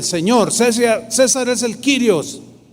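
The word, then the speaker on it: κύριος: es zoom y kirios curiosos según eso se pronuncia quirios dos palabras son y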